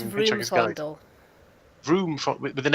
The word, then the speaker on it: Vroomfondel: Vroomfondel. Oh, should it not be with an R? Vroomfondel. Danny, Vroomfondel. help me out. It's one of the philosophers from It's Hitchhiker's Guide. Vroomfondel.